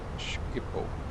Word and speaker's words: Schiphol: It's pronounced Ger. Schiphol.